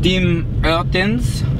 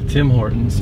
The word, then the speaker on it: Tim Hortons: Dim Ertens. That's not how they say it. That's how I say it. That's not making the French noise. We're at Tim Hortons.